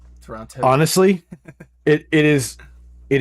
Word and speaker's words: Toronto: Yeah, you pronounce the second T. It's like an instant sign. Oh, so Toronto.